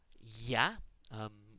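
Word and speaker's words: Я: do that, the letter Ya. Sometimes in class, we will call it the kids are us letter. It looks like an R that's backwards, and it represents the sound Ya.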